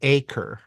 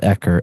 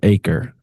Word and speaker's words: Ekur: It's it's Demon in the Acre, by the way. Um Not Ecker, Acre. Got it. Acre, right. It sounds like it sounds like the English word acre, but it's actually spelled e k u r.